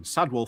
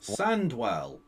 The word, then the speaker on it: Sandwell: Sandwell. That's not a difficult name to pronounce. Sandwell. It's 8 letters. And the 2 sets of 4 letters as one are individually both words you already know. Sandwell. Not Sadwell.